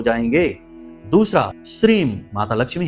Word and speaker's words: श्रीम: तो मंत्र है ओम ह्लीम श्रीम क्लीम नमः। उच्चारण फिर से ध्यान से सुनिए, क्योंकि ये बीज मंत्र हैं। बीज मंत्र में उच्चारण का ही सारा खेल है। ओम ह्लीम श्रीम क्लीम नमः।